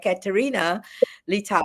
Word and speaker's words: Katerina Litau: And the next speaker that we have announced, and Katerina Litau, right? That's how we pronounce her name.